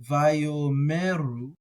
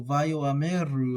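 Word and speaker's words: ויאמרו: So a lot of people are going to leave that silent, and they're going to say something like Vayomeru. I like pronouncing the Aleph when it's there, so Vayoameru is how I would say it. You can hear the little difference, right? Vayomeru, Vayoameru.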